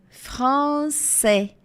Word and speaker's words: français: E o S final não é pronunciado. Je parle français, français.